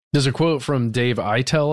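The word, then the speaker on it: Aitel: a quote from Dave I tell I think is how you say it a-i-t-e-l former NSA hacker is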